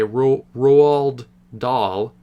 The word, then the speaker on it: Roald Dahl: It seems, because this movie's based on a book by Roald Dahl, that's how you say his name.